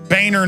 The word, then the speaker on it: Boehner: it's a nice name it's pronounced boner and he his whole life he even had ad campaign say it's Boehner not boner hey if your if